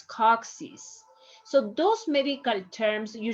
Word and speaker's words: coccyx: Coccyx, if we follow the same rule like here, you will say cochis, and it's not, it's coccyx.